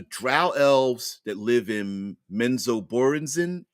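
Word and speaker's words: Menzoberranzan: elves that live in menzo borenzin I think is how ra Salvatore pronounces pronounces it anyway they were saying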